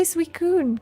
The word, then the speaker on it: Suicune: I can say Suicune! Because like Loki, I used to pronounce Suicune as suicide.